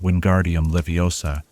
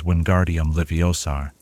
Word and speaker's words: Wingardium Leviosa: a simple levitation charm, but mispronouncing Wingardium Leviosa as Wingardium Liviosar.